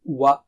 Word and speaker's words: وَ: Form a circle of the lips. That's very important. Wa, circle of the lips, and then separate them to produce a sound.